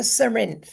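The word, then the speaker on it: Cerinthe: express my creativity but it's called the serin and it's spelled c e r i n t h e so you can Google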